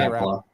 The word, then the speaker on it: Rapala: How do they say Rapala? Rapala. Yeah. What do you say, Ty? I've always said Rapala.